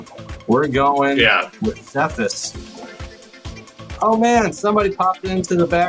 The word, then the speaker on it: Cephas: pronunciation, Cephas? Yeah, I say Cephas, but yeah, I'm sure you can say it however. It's an Aramaic word. Yeah, because it's K-Fi, I think, also in Aramaic.